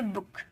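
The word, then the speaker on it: book: जैसे B double O के तो डबल ओ आया तो इसे बुक।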